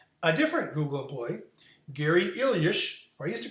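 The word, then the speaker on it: Illyes: that was fascinating a different Google employee Gary ilish who I used to call Gary Isles but I've recently heard his his name pronounced by him properly and it's more like ilish so that's how I'm going to say it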